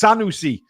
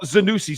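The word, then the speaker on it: Senesi: Uh Senusi looks very we stop calling him Zenu. It's Sanusi not Zenusi. Zenusi is a washing machine.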